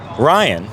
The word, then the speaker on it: Ryhan: I always knew that was my sun sign, and I thought it was very cool that my name is Ryhan, and it rhymes with lion, and I'm a Leo, and I just thought that was really cool when you're 8 years old.